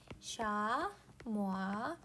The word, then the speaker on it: 샤모아: 샤모아. 얘는 프랑스 말이라 샤모아라고 읽는데 샤모아 영양, 샤모아 염소라고 한대.